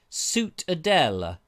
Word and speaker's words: Ciutadella: Mark Taylor says it looked like the Citadel in Menorca, pronounced Ciutadella.